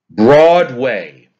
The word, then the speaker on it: Broadway: Broadway. That word is a trochee. Broadway. Broadway. Stressed, unstressed. Mobile is a trochee.